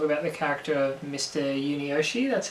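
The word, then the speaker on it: Yunioshi: have to talk about the character of mr yuni yoshi that's how you pronounce him yeah um which was portrayed by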